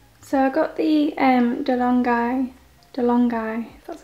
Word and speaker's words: DeLonghi: So I got the DeLonghi, that's how you say it, Dedica.